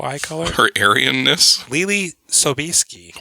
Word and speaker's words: Sobieski: color her arioness Lily Sobieski why you say it like that that's how it's naturally pronounced is it really I have no idea Sobieski uh she plays tosia